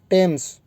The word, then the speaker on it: Thames: D students, कुछ एक ऐसे प्रॉपर नाउन्स हैं जिसमें TH लिखा होता है, लेकिन वो प्रोनाउंस जो है वो ट होता है। बड़ा टिपिकल चीज़ है, आपको अजीब लगती होगी। लाइक एक वर्ड होता है टेम्स, जिस तरह आपने टेम्स नदी सुना होगा, THAMES, लोग इसको थेम्स पढ़ते हैं।